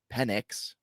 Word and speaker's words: Penix: And Michael Penix, of course, Penix. Don't say his last name wrong because you can get into some trouble.